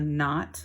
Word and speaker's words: knot: Here's another silent letter word. That's a knife that it's pointing to. There's a knot.